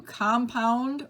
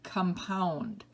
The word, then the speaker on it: compound: Different syllables are accented. Number 2, compound or compound.